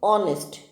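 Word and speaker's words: honest: ये हॉनेस्ट नहीं होता, इट इज ऑनेस्ट. एच is silent.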